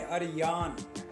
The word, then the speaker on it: آریان: नाम है अरियान। अरियान नाम का स्पेलिंग है ARYAN।